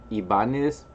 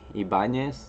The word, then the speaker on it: Ibanez: I say it Ibanez. Some people would say it like Ibanez, like with the the Mexican end.